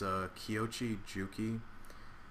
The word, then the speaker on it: Kiyoshi Juki: If you want to know how to pronounce my general's name, it's Kiyoshi Juki.